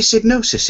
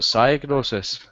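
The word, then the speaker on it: Psygnosis: It was like, how can it be Signosis? It starts with a P. You don't pronounce it, you just say that one with the owl.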